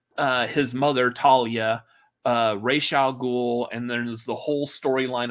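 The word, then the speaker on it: Ra's al Ghul: and Talia and yes I pronounce racial ghoul like the Batman the Animated Series that's where I learned to pronounce it I don't know what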